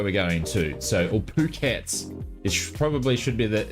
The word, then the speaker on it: Phuket: Phuket is where we're going to so all phukets which probably should be the the best player we pronounce it so um no jokes aside it